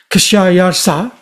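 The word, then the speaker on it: Khshayarsha: K H S H A Y A R S H A Kayarsa.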